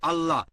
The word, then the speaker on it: আল্লাহ: একইভাবে আমরা জানি সঠিক উচ্চারণটা হচ্ছে আল্লাহ। তারা বলে এলা, আমরা বলি আল্লাহ, সমস্যা নেই, সঠিক উচ্চারণটা হচ্ছে আল্লাহ।